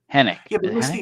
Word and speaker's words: Henwick: Jessica Hen Henick. Misty Knight was, you know, she was also more Luke Cage than Yes. The W is silent, Paul.